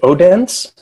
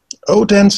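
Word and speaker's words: Odense: is called is it oh dance oh dance is probably how you would pronounce it in in English it's not well it's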